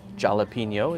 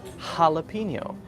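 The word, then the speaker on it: jalapeño: is a kind of delicious pepper it's not pronounced jalapeno it's pronounced jalapeno right jalapeno lots of names in California in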